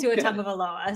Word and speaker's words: Tua Tagovailoa: Yeah, but it's Tua Tagovailoa.